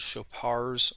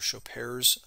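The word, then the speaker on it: Chopart: The mid-tarsal joints are called chopars or chopares, depending upon your pronunciation, joints, consist of the talonavicular joint as well as the calcaneocuboid joints.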